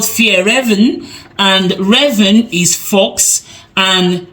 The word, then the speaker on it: Fjällräven: Okay, so he says it's called Fjällräven, and Raven is fox, and Fjäll is mountain.